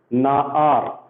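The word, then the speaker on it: נער: So how do we pronounce this? Na-ar. Okay, na-ar.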